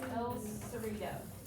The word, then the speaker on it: El Cerrito: And we're going to pronounce this word as el cerrito.